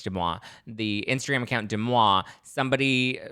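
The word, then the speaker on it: Deuxmoi: They did not hook up together, but apparently there were two other, according to Demois, I think that's how you say it. It's not Des Moines. I think it's Demois.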